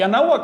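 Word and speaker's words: Anáhuac: Se lo voy a poner como ellos lo pronunciaban. Se lo decían porque hablaban nawak y anahuak es una lengua, es una palabra nawa.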